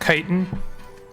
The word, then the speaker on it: chitin: what materials apparently chitin is made in the occident where it's extracted from bitter wings you know I'm sure that other people people have told me repeatedly that it is pronounced chitin but I refuse to